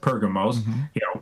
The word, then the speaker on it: Pergamos: Some people pronounce it Pergamos. Just remember purgatory, except I'm not a Catholic.